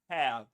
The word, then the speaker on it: hair: And when you're yawning, you say hair.